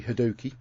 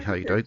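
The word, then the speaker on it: Hadoke: Toby Hadoki. It's actually Haydoke, but people like to pronounce it wrong.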